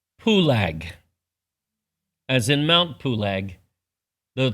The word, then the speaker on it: Peleg: However, if you want to pronounce that name properly to the Hebrew, you would change the vowel sounds. You would not pronounce it Peleg. You would pronounce his name to mean it was divided, Pulag, as in Mount Pulag,